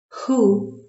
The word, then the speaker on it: who: Коли ми чуємо звук Х, але попередній В не вимовляється. Who?